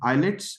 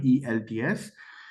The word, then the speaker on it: IELTS: For example pronunciation of you said eyelets. It's not it's e lts.